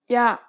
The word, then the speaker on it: 야: 아, 야, This small stroke adds a Y sound to the beginning of the original sound. Compare the pronunciation of these 2 letters once again. 아, 야, When you say this letter, don't pronounce the Y sound for too long.